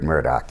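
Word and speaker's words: Mourdock: m o r d o c k it's pronounced like ruper Murdoch and he's no relation and I didn't think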